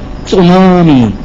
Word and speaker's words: tsunami: a brand new word it starts with a T but you don't pronounce the T so no tsunami is that it the